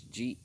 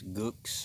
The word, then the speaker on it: Geaux: But look, you see Trent and TD, y'all gotta learn how to spell it, man. It's not G-O, it's Geaux.